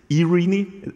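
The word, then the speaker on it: Eirini: been talking about is eRENI, as it's actually called, so first Greek word after Kubernetes in that presentation. Some people call it iRENI. We were told iRENI is the right Greek pronunciation.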